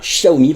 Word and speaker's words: Xiaomi: Alors aujourd'hui on va parler d'une nouvelle montre connectée de l'écosystème Xiaomi, enfin Xiaomi pour la bonne prononciation.